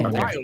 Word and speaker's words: Tamara: Tamara said it's pronounced like camera, just so everybody knows. Oh, Tamara.